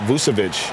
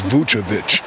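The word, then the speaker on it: Vučević: and big man nicola vusavich maybe not the most athletic but shack his skill level makes him a factor well first of all they call me shakovic you said his name wrong it's vucha but anyway it reminds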